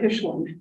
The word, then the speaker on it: Hichelin: Michelin, actually it's Hichelin. Michelin. She told me it rhymes with Michelin, and then I said it. My name is like Michelin tires, only with an H.